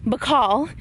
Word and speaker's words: Bacal: I hope I'm pronouncing it right, Bacal. Am I pronouncing it right? Perfect. Bacal.